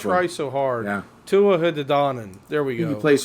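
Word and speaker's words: Tuatha Dé Danann: or the Tua, I can't pronounce that. It's a I tough try one. so hard. Yeah. Tuatha De Danann.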